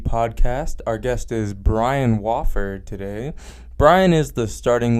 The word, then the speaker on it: Wofford: Wofford? Wofford. That doesn't make any sense. Do you ever get mad at people Yes. for pronouncing it? Yes. What is wrong with you? Yeah. Do Especially.